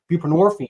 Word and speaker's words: buprenorphine: we give narcotic addicts buprenorphine which rhymes with morphine Suboxone um and the